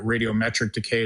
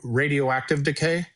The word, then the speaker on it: radioactive decay: a physicist even though I was I was mispronouncing it. I called it raditric decay. It's radio uh uh radio radioactive decay.